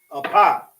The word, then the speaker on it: Apa: And that's how you say it. Apa. You got the and the pa.